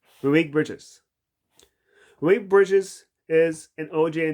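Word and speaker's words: Mikal Bridges: OJ Anunoby and McKee Bridges. Why did I say that? Malik Bridge is. I said his name wrong. Malik Bridges.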